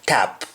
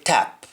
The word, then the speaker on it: tap: that with a and instead of top we shall have tap instead of bottom we shall have bottom so here we say tap to mean top and the example is